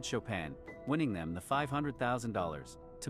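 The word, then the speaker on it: Chopin: The runnerup mispronounced the answer as Chapin and she said Shopan winning them the $500,000.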